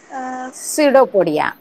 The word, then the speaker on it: Pseudopodia: Second, they have सिडोपोडिया. सिडोपोडिया spelling वेगळं आहे पण प्रोनाउन्सिएशन त्याचं वेगळं आहे.